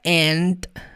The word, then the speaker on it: and: americano tanto britânico tá a palavra and sim na maioria das vezes o d não é pronunciado and Peter and edmund